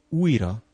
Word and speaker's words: újra: In the word újra, you just pronounce a long U. It sounds the same as the last sound in the English word you, except that it's a bit longer.